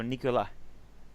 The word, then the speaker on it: Nicolas: Okay, the S is silent, so Nicolas. Nicolas.